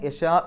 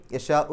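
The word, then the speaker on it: يشاء: നിർത്താൻ അപ്പൊ ചെറിയൊരു ഇ എന്നുള്ള ശബ്ദമേ കേൾക്കുകയുള്ളൂ അങ്ങനെ യശാഹ് എന്ന് പറഞ്ഞ് നിർത്തുകയാണെങ്കിൽ ആ ഷീനിന്റെ നീട്ടൽ അപ്പൊ മദ്രി ആയിട്ട് മാറും ആറ് അക്ഷരങ്ങളുടെ ദൈർഘ്യം വരെ വേണമെങ്കിൽ നീട്ടാം അവിടെ പാരായണം നിർത്തുകയാണെങ്കിൽ നിർത്താതെ ഓതുകയാണെങ്കിൽ യശാഉ എന്നുള്ള ഷീനിന്റെ ആ നീട്ടൽ നാലോ അഞ്ചോ അക്ഷരങ്ങളുടെ ദൈർഘ്യം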